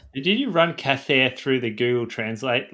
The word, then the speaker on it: Cathair: Do you reckon the H is silent? It's more like Kair.